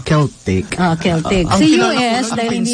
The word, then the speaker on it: Celtic: scottish Oo kasi Oo Ang spelling niyan Yung c c e l t i c pero ang pronoun niyan is keltic keltic sa US dahil